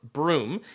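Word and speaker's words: Bruttenholm: arm was found and adopted by Tre Trevor broom it's written brutin home but pronounced room I have no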